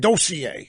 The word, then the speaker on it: dossier: And I like Ari Fleischer here, even though he pronounced it dossier. That's really that's insider pronunciation style.